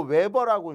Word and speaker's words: 웨버: 그러니까 결국은 10웨버라는 자속이 이거 웨버라고 읽는 거예요.